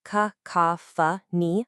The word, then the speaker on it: cacophony: It sounds like ka-ka-fa-ni for the noun, and for the adjective form we're focusing on today, it's ka-ka-fa-nus.